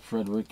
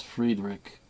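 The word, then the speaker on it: Friedrich: want to call him Frederick but it's not Frederick it's Fredick or if you want to pronounce it the German Way it's Fred fredr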